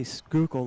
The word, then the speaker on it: Schuylkill: on the upper skookul you say skookle like you're uh from here that's amazing you know you